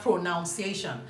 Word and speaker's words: pronunciation: said into pronunciation so you hear pronounce they're not pronunciation like I said we're not about to find